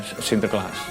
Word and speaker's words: Sinterklaas: In English, Saint Sir Glass. And when you have pronounced it fast, then you can Sinterklaas.